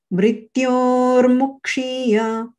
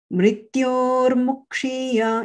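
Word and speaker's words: मृत्योर्मुक्षीय: it's purple, is because this particular combination requires you to pay attention to the length of the pronunciation. Mrityor mukshiya, mrityor mukshiya. It's as if it's longer than long, a tiny bit.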